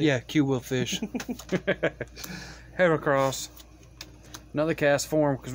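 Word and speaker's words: Qwilfish: a cue will fish it's quill as yeah q wheel fish quill from uh guardian of the galaxy yeah q will fish heracross another cast form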